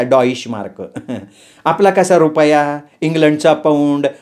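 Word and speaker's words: Deutsche Mark: डॉइश मार्क म्हणतात तिला विचित्र स्पेलिंग है काहीतरी पण उच्चार मात्र असाच करायचा डॉइश मार्क आपला कसा रुपया इंग्लंड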